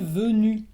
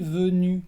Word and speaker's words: venu: entonces es je suis venu. Je suis venu con una U al final. La U francesa, cuidado, tienes que pronunciar la U francesa. Je suis venu con la boca cerrada.